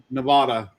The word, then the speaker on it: Nevada: It's Nevada. What did I call it? Nevada. That's the now you said it right.